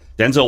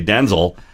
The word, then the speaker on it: Denzel: You share this in common with Denzel Washington. So Denzel Washington was being interviewed by somebody, and he said, "Actually, my name is pronounced Denzel, not Denzel."